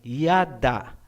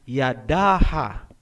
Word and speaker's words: yada: Gaya halimbawa ng salitang yada, ang ibig sabihin niyan ay praise o pagpupuri. Hindi po binabasa na yadaha.